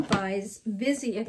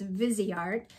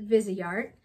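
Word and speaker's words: Viseart: have here is from buys busy i've learned recently it's vizi art the the owner of the brand pronounces it visi art this is a professional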